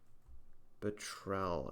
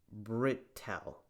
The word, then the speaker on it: Britell: So his name is Nicholas Britell. That's how you pronounce his name.